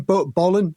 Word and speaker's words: Bolan: Um and he he's really big into Tommy Bowlolan and is it Bolan? Bolan. I'll just say his name. Bolan. Bolan. Yeah. Yeah. Bolan. That's the guy.